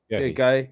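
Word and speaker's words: Guéhi: Guy, yeah.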